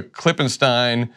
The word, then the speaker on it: Klippenstein: He's a Klippenstein, they're Krassenstein, and the device I use to remember the difference is the first syllable of their last name is Crass, which means thoughtless and ignorant, and the first syllable of Ken's last name is Clip, which is the part of a firearm you put the bullets in.